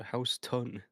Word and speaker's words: Houston: We also have a Houston here, but everyone that lives there calls it house ton.